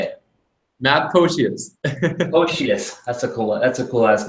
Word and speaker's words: Pocius: And on today's show, I have Matt, and I don't know if I can pronounce your last name. How do you say it? Matt Pocius.